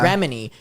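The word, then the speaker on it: Remini: Well, but to give a little bit of clarification to people, how's it pronounced? Is it Remedy? Yeah. Remedy.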